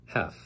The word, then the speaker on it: half: 한 시간의 절반이아요 그래서 have 발음 조심하세요 L 발음 안 합니다 have 그러면 30분이 지난 시야라